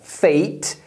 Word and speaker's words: fake: por exemplo a palavra fake tem a pronúncia de Ei porque ela termina na letra e essa letra é não